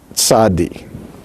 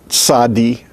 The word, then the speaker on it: tzadi: Now, by the way, I have changed the pronunciation to reflect both ways. Instead of saying tzadi, I said tzadi. But then I also said tzadi sofit, TS instead of TZ.